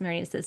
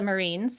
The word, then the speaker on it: Marines: So here is Marina's bio. And I should say for our listeners, it is spelled like Marines, like the Marines, but it is pronounced Marinas.